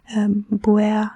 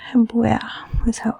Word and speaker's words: Buer: And well, Buer, it almost sounds like blue, blau, the color bleu. It's like Buer, It sounds a little French as well too for me. Buer.